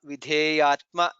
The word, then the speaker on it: विधेयात्मा: Nandir Jyotir Ganeshwaraha Vijitatma Vidheyatma. Dha is Mahaprana.